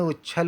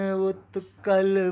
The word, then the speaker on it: उत्कल: द्राविड़ उच्छल बंग नहीं बोलेंगे। अब देखिए गाते समय कैसा गाएंगे। पंजाब, सिंध, गुजरात, मराठा, द्राविण, उत्कल, बंग।